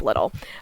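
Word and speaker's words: Liddil: his name is dick little so that's so unfortunate it's really unfortunate uh that is spelled d-i-c-k l-i-d-d-i-l so it's not spelled as little but his name is dick little um they continued just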